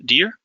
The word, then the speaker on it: dir: stem of this here which is dir pronounced dear if you're talking future